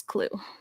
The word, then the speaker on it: Clew: So yeah, you can try it out, and it's spelled CLEW. There's a few of them, like there's Clue Maps and Clue something else. So you just want to look for the one that just says Clue.